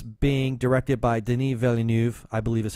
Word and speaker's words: Denis Villeneuve: new the new film it's being directed by denis villeneuve i believe is how you pronounce it so I'm sure a lot of